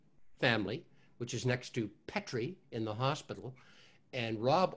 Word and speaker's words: Petrie: He always had to did a sort of, no, it's not Petrie, it's Petrie.